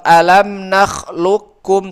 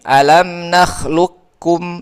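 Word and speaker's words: أَلَمْ نَخْلُقْكُمْ: Alam nakhluqkum langsung ke kaf. Alam nakhluqkum. Tapi kalau yang nakis berarti gini. Alam nakhluqkum. Itu nakis. Qafnya tebalkan dulu.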